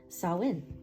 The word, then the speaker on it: Samhain: I just learned that it's pronounced Samhain.